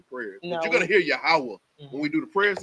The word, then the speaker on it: Yahweh: he was reading said it spelled the same way like Yahweh but y'all pronounce it yahwah yahwah right and that's